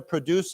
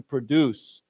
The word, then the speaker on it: produce: But normally if we say I want to produce something, then it's on the second syllable to produce something.